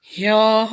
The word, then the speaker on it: ह्यः: ह्यः वहाँ उसका उच्चारण क्या करोगे? आधा ह और उसके पेट में ह है, यह के पेट में ह, यह।